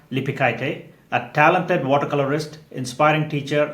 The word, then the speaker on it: Lipeikaitė: And is Lipikite? Is that the correct pronunciation?